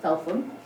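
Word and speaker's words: Felpham: London for phelam I've recently discovered it's not pronounced phelam in West is in fact pronounced falam um and he anyway got Blake away and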